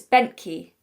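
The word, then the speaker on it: Bentkey: really awkward name benty yeah it is it's benty I don't know if that's just me but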